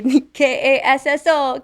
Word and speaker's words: Castle: We spell it. Get this, Castle. We say Kasso, Castle.